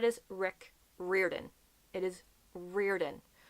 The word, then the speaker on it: Riordan: It is Riordan, not Riordan or Riordan. Riordan. I don't know how he personally pronounces his name.